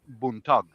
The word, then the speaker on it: buntag: And the real word, way you say it, is buntag.